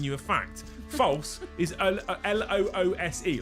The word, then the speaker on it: Luce: True is L-U-C-E, loose. It's a name. Loose has given you a fact. False is L-O-O-S-E, like moose, but loose, right?